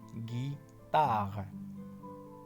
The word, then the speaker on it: guitare: Là, le G, pour avoir le son gay, devant le voyelle I, on met U. On met le voyelle U pour avoir le son gay. Donc, la guitare. Il se prononce la guitare.